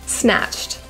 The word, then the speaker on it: snatched: shoes your outfit snatched the Ed in this word is pronounced as a t rather than Ed Squad it just means